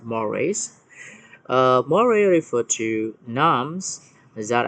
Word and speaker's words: mores: Easy to read this word is we pronounce this mores.